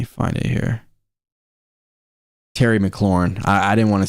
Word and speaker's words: McLaurin: More importantly than that, AJ or McLaren, sorry, I don't know why I'm not saying his name right, and I don't want to say it wrong. Let me find it here. Terry McLaurin.